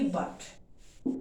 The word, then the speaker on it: but: जैसे for example हम बोलते हैं BUT बट, इसको हम बट बोलते हैं, और PUT को क्या बोलते हैं, पुट।